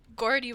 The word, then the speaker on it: Gordy: that um tis understandable Gordy with a hard G okay gotcha I wasn't